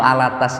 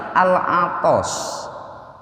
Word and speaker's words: Alatas: Pak ya, penyanyi itu Alatas itu. Itu tulisannya itu bukan Alatas tapi Al-Atos. Kita sering mendengar As-Segaf, ya, As-Segaf. Itu tulisannya bukan As-Segaf tapi As-Sakof. Kalau bahasa Arab As-Sakof, tapi mereka membacanya As-Segaf.